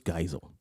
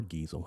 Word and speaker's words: Geisel: so uh think about that okay theodore seuss geisel okay or gizel however you want to pronounce that who is this guy let's find